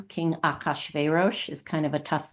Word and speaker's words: Achashverosh: The chorus just goes, Achashverosh, Achashverosh, Achashverosh.